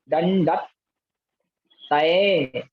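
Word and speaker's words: दंडत्तय: दंडतय, यहाँ ता दो हैं, आधा ता और उसके बाद पूरा ता। तो पहले क्या करना, दंड के साथ आधे ता का उच्चारण करें और तय को अलग पढ़ें, फिर दोनों को जोड़ के पढ़ें।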